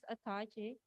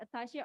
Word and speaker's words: attaché: In 2020, the Croatian side has approved the appointment of the defense attaché. Is that correct? Attaché or attache is a pronunciation. Attaché. The pronunciation.